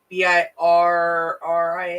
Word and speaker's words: Birria: I think I pronounced it wrong. It's Birria or something like that.